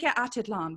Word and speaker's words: Atitlán: So I'd love to talk to you first off about, you know, you've been there at it's Lake Atitlán, right?